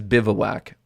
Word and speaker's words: bivouac: of the day uh you're gonna live it's pronounced biv whack that's not what miriam is saying bivouac viv uh whack it's bivouac it's the three according to merriam-webster bivouac bivawack